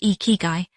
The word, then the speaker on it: ikigai: Ikigai, pronounced ee-kee-guy, is a Japanese word that loosely translates to a reason for being, but that translation honestly does not do it justice.